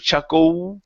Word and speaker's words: chuckle: worry about the d all i want you to say is chuckle and end with an L instead of chuckle with an o it's Oh chuckle chuckle okay now you're